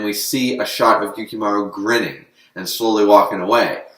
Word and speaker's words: Yukimaru: he looks over at yukimaru and says and apparently you do pronounce the gene yukimaru it's not yukimaru like i previously thought so correction there he